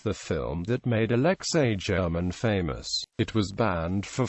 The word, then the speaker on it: German: Alexa yich German was a Soviet and Russian filmmaker most active as a director and screenwriter his last name is pronounced with a hard G and in English is